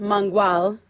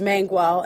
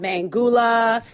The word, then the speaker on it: Mangual: You're preaching to the choir and somebody whose last name, technically is pronounced Mangual. I've been called, but, just like the English version is Mangual. I've been called Mangula, Manjuel, you name it.